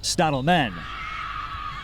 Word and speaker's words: Stadelman: Or rather, it's Lovisa Stadelman. Or as the Swedish say, as Marcus Lind says, it's actually pronounced, or should be pronounced, Stadelman.